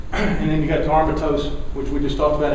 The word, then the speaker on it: aromatase: Molinari, I was pronouncing this wrong, aromatase.